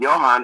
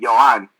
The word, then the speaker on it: Johan: But even in Puerto Rico, where the H doesn't make a sound, people were mispronouncing my name. Instead of Johan, it would be Johan, because the H doesn't have a sound.